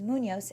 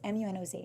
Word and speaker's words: Munoz: And my last name is Munoz, Munoz.